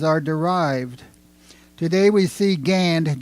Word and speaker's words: Gand: derived today we see Gand g n d and many of the place names but it is still pronounced gan and as I said I was told don't worry about the D if you translate the